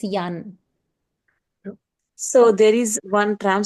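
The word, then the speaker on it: Jan: It's not John. Believe me and John, it's Yan. So there is one tram stop nearby me. Uh the name of the tram stop is Yan Raz.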